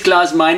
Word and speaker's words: Klaus Meine: My name is Klaus Meine, it rhymes with money, and Rudolf Schenker, love at first sting.